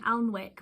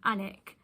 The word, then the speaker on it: Alnwick: saying the name wrong, I've been saying Alnwick rather than 'Annick'.